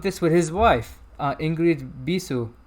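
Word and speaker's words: Ingrid Bisu: with his wife uh ingrid bisou that's how he pronounced it because she's a romanian actress and she's also does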